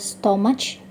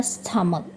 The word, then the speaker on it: stomach: Kata ini bisa jadi dibaca stomach, gitu ya. Tapi yang benar dia stomach.